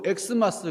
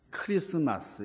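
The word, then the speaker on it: Xmas: 이 X 할 때, 그러니까 어떤 분이 그냥, 엑스마스 그렇게 읽는 분이 있는데, 그렇게 읽어서는 안 됩니다. X라고 하는 말은, 이게 크리스투스라는 말이에요. 그러니까, 이 라틴어로 크리스투스의 앞자, X가 키라는 뜻이에요, 키. 그러니까, 이 엑스마스라고 읽으시면 안 되고, 어떻게 읽어야 되겠어요? 크리스마스 이렇게 읽게 되는 거죠.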